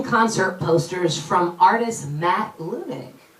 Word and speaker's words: Leunig: I found out I was saying Wahhab's name wrong this whole time. Lunig.